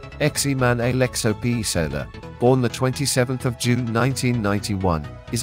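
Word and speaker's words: Germán Alejo Pezzella: German Alejo Petzela, Spanish pronunciation, Eximan Alexo Pizela, born 27 June 1991, is an Argentine professional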